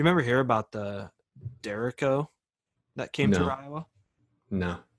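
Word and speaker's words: derecho: know nothing about that so it's spelled like d-e-r echo so okay this town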